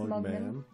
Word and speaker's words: Mugman: It's pronounced Mugman.